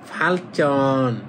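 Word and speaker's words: 발전: ফালচন ফালচন মানে উন্নত করা। এই যে সাংজিউ এই জিটা আছে একবার। তখন উচ্চারণ করবেন দুইবার।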